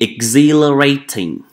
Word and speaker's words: exhilarating: We have to be exhilarating, right? So we don't pronounce age over here. We just need to pronounce like exhilarating. Exhilarating.